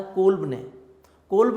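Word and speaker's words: Kolbe: इसको कोलब भी पढ़ते हैं, कुछ डिफरेंट प्रोनाउंसिएशन में इसको कोलब भी पढ़ा जाता है, कोल्ब भी पढ़ते हैं, कोलब भी पढ़ते हैं इसको, जैसे आपको इजी लगे। लेकिन कोल्ब इसका नाम था।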